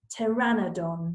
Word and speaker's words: Pteranodon: how do you say it Taryn Oh Don Pteranodon there we go I needed that lesson who